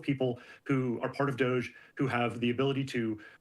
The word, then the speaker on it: DOGE: lawsuit, filed suit challenging Doge access to personal data contained within government. I just heard a new pronunciation, Doge. Almost Dodge, but it's not Doge anymore. Now it's Doge.